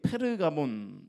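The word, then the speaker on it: Pergamon: 거기에 이제 글을 썼죠이 버가모의 영어식 발음이 페르가몬 있데 양피지를 페르트 합니다이 페르가몬이라는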